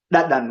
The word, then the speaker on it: dadan: Dadami is to tell someone to Dadar. taste. Yeah, Wait, you're saying dadar. dadan with an N.